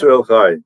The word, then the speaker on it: Yisrael Chai: Yisrael Chai.